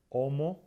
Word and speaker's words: Homo: La letra H no se pronuncia, básicamente no se pronuncia en casi ninguna palabra, como por ejemplo conocemos muy bien nuestro propio nombre, Homo sapiens. No pronunciamos la H, bueno, no se pronuncia en casi ningún caso.